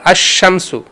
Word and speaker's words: الشمس: اب ہم نے جو تلفظ ہو رہا ہے وہ کس پہ؟ الف لام پہ نہیں ہو رہا, نہیں ہم نے پڑھا الشمس.